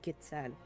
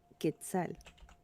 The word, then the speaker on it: quetzal: It's also reminiscent of the quetzal, the national bird of Oh.